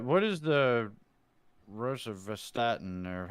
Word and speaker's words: rosuvastatin: What is the rosuvastatin, or how do you pronounce that?